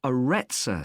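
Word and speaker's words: Aretsa: got a rather strange name it's called the aretza center that's spelled a double r e t s a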